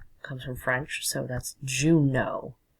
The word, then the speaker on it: Juneau: It's like the month, June, and then A-U on the end, and E-A-U in English is pronounced like O. Comes from French, so that's Juneau. Juneau.